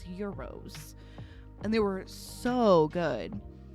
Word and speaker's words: gyros: Some people call them gyros. I believe the correct pronunciation is euros.